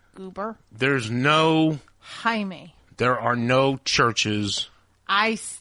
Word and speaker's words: Jaime: That is how they pronounce it in Spanish, goober. There's no... Jaime.